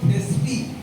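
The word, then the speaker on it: Thespis: ব্রিসি তার নাম ছিল থেসপি টি এইচ ই এস পি আই S last কেসটা সাইলেন্ট অনেক শব্দে লিখবে যখন সাইলেন্ট থাকে থেসপি হি ইজ কলড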